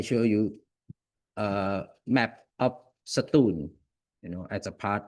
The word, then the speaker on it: Satun: Uh Satun or pronounce it in Thai language. Satum, you know, is a